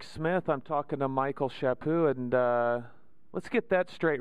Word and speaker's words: Chaput: It's Chaput with no T at the end and no emphasis on the cha, or it's Chaput. Chaput.